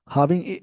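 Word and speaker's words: halving: हाविंग, ऐसे इसको word को ना, इस वर्ड का प्रोनाउंसिएशन होता है हाविंग, मतलब एक तरह से ज्वाइन करना, एडिशन करने का सेंस है।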